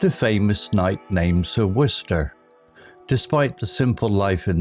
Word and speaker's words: Worcester: The villagers found it peculiar how Sir Worcester's name was pronounced Worcester, a mystery in itself.